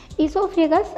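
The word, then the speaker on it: oesophagus: Okay guys, ईसोफेगस guys इसे ओ से लिखते हैं बट ओ इसका साइलेंट होता है, इसे ईसोफेगस पढ़ा जाता है।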